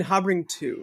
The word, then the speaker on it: Habring: And then Habring 2, not Habring squared. Right, it's Habring. Yeah, that's right, Habring 2. Habring 2, you heard it here. Habring 2, that's how you say it.